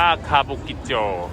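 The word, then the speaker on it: 歌舞伎町: เอง นี่ เลย นี้ อัน นี้ อ่าน ว่า คาบุกิโจ วัน นี้ ย่าง ค่ะ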